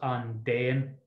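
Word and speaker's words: an dtéann: it's the same here the d blocks out the t so the d makes the t silence so it's pronounced undean on day and on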